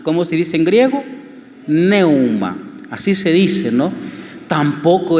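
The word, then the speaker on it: πνεῦμα: Neuma.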